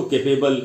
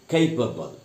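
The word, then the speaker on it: capable: कल के लिए कैपेबल इसको भी दोस्तो कैपेबल ऐसे करके नहीं बोलना है कैपेबल और वर्ड डूबल कोई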